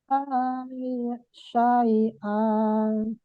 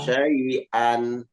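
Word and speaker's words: شيئا: Innal ladzina istarawul kufra bil imani la yadurru syai'an. Wakaf ya, Bunda. Wakaf di syai'a berarti tidak boleh dibaca tanwinnya. Bukan syai'an. Bacanya bagaimana? Syai'a. Dihilangkan tanwin, diganti dengan mad panjang.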